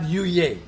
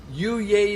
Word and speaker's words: Yuyay: It's got to be said with gusto.